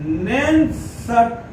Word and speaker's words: Nernst: अब इसके अंदर में आता है, इसी में आपके आती है नैनसट इक्वेशन।